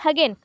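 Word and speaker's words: Hagen: according to Thorndike and हगन हगन बोल सकते हो एच जीन हजन नहीं होगा हैगन बोल लो ठीक है हैजन बोलने से भी चलेगा बट स्पेलिंग अभी रंग होगा तो हैगन बोल लेना चलेगा थार्नडाइक एंड हैगन द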